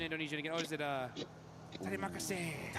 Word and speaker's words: Terima kasih: Oh, is it Terima kasih, right?